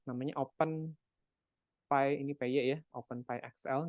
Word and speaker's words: OpenPy: Nah, jadi kita akan menggunakan salah satu Python modul ya, namanya OpenPy, ini PY ya, OpenPyXL, dibacanya OpenPy.